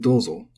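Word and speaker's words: どうぞ: And dozo and domo are the same. They're both accented.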